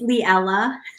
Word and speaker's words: Leella: I go by Lee it's leella like Cinderella Cruella not no it's poorly